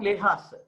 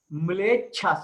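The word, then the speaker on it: म्लेच्छाः: Not Lehas. Mlechas. Mlecha. Mle. Mlechas. Mlecha. Mlecha means, see, our people are speaking Arya Bhasha. Mlechas. CCHAS. Mlecha. Like that you have to pronounce.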